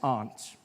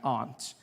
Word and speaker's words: aunt: For instance, I pronounce the opposite of uncle as aunt. I say my aunt. Out here you say my aunt. Which to me is an insect.